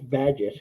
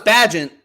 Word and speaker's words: Bagent: I think it's Badgett. Badgett? No, it's Bagent with the ENT.